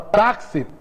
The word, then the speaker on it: táxi: Ó, ela tem duas sílabas, a primeira e a segunda. Qual que é a mais forte? É a segunda. Se a segunda é mais forte, ela é o quê? Ela vai ser uma paroxítona.